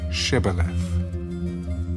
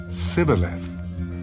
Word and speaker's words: Shibboleth: If he said no, then they would say to him, "Then say Shibboleth." And he would say Sibboleth, for he could not pronounce it right.